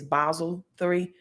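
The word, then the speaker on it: Basel III: going to talk about basil 3 compliance um some pronounce it as Basel three we're going to talk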